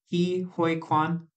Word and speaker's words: Ke Huy Quan: Ke Huy Quan? Yep. You got it. Okay. You crushed it. I might not have pronounced it perfectly, no, I but crushed it.